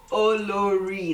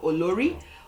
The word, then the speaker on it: Olori: Olori, that's how it's pronounced, not Olori. Olori. Olori.